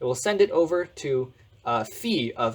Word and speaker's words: phi: like this letter here this is a fee right so you want to pronounce this as phi and this is a